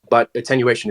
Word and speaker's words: attenuation: like the was it attenuation, or I'm saying it wrong, I think. Attenuation. Thank you. Like attention, basically, but right. Attenuation, like putting attention to that object.